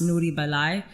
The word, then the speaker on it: Noori Belai: It really in Amharic is pronounced Noori Belai, and Noori means it's like a female command to a female.